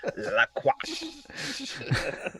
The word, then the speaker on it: La Crosse: La Crosse. It's pronounced old style.